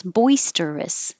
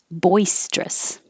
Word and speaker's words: boisterous: practice with three boisterous you can say it with three syllables boisterous or just two syllables boisterous boisterous repromand you don't